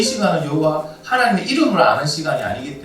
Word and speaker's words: 야훼: 여호와. 여호와나 야훼는 같은 말이에요. 여호와를 히브리식 발음으로 하면 야훼라고 불러요.